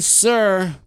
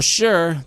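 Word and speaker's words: Suhr: Gold Medal winner Jen sir or sure depending on how you pronounce it s u HR be a guest on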